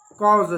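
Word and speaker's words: cause: कुछ उदाहरण देखिए जैसे यहां पर काज लिखा हुआ है इसको काज नहीं इसको पढ़ते हैं कोज cos अब cos क्यों पढ़ते हैं?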